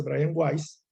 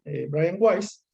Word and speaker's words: Weiss: Pero sí estoy leyendo un material de Brian Weiss, eh, Brian Weiss, se escribe Weiss, pero creo que se dice Brian Weiss.